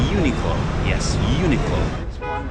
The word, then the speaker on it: Uniqlo: This store is all over the world and it's Unilo. Uniqlo. Yes, Uniqlo.